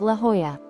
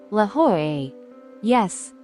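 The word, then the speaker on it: La Jolla: look like lala but in Spanish the Double L is pronounced like a y so it's actually La ho yes La ho it's simple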